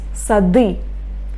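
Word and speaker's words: сады: But here d is not final one. Okay? That's why I pronounce d. Sadi.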